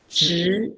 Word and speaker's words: 执: Pronounced as zhi. Zhi. Zhi, second tone.